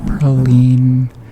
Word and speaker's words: praline: Also, I'm from New Orleans. We say praline. I feel like lots of people pronounce it differently than that, but Um and it